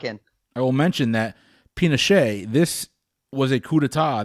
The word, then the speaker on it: Pinochet: category is history I'm gonna try not to butcher these names a 1973 coup d'etat helped Augusto pincette overthrow Salvador Allende the democratically elected leader of what South American country its Pinochet I can lock in I will mention that